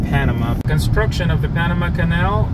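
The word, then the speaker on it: Panamá: the right pronunciation is Panama with the accent and the last a Panama that is the right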